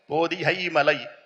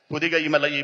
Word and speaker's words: पोदिहई मलई: Kerala Tamil Nadu border पर, Kerala Tamil Nadu border पर एक पर्वत रेंज है, पर्वत मालिका, उसका नाम है पोदिहई मलई। इस प्रकार का प्रोनाउंसिएशन होता है, पुदिगई मलई, पोदिहई मलई।